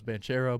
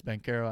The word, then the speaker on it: Banchero: I thought it was Banchero, but it's Bankero.